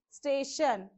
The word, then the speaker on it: station: So shun, station. So it is on the stay part.